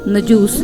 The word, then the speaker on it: نجاشی: و کسرا کہلاتے تھے، افریقی زبان میں نجاشی کا تلفظ نجوس ہے اور اس کا معنی